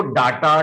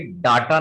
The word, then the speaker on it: data: सर इसका सही pronunciation actually डाटा ना होकर के डेटा होता है। काफी सारे लोग करेक्ट भी प्रोनाउंस करते हैं इसको, बट ये कई बार मिस प्रोनाउंस भी किया जाता है। तो this is नॉट डाटा, this is डेटा।